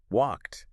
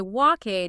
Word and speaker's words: walked: And notice it's one syllable. Walk is one syllable. Walked is still one syllable. If you say walkade, you've turned it into two syllables and you've thrown off